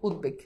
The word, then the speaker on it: উদ্বেগ: যেমন খেয়াল করে দেখো আমি লিখলাম উদ্বেগ, এই যে দেখো এখানে বফালার উচ্চারণ আছে। এখন তুমি উচ্চারণ লিখো উদ, এরপর হচ্ছে কি বেগ, উদ্বেগ, শেষ।